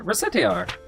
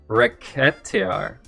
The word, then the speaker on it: Recettear: Recettear. Oh, racketeering. Okay, so if you spell the C as a K, it's a racket.